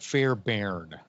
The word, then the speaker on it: Fairbairn: would said it right fair bairn okay it's fair with ai and baron b-a-i fairbairn uh he's in the